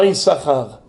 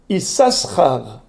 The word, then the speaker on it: Issachar: le savez qu'il y a deux chines dans isahar ça s'écrit avec deux s le point est à gauche donc c'est S c'est pas Chine n'est-ce pasar normalement come on aurait dû lire isasar mais on ne lit pas isasar bien qu'il